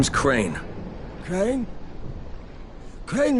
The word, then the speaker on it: Crane: name is crane okay crane rhymes with train and brain and sane and gray and rain